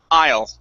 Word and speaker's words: aisle: want to say i'll so bring it down and up to the front of your mouth aisle there you go that's